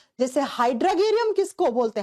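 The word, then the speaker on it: Hydrargyrum: जैसे हाइड्रगेरियम किसको बोलते हैं? हाइड्रगेरियम या हाइड्राजेरियम जैसे भी आप इसको प्रोनाउंस करो।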